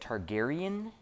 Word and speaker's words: Targaryen: the the turd how do i say it targaryen yes i've been i've been uh approved i